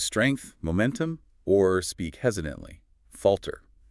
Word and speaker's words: falter: To lose strength, momentum, or speak hesitantly, falter. F a l t e r. F all walter.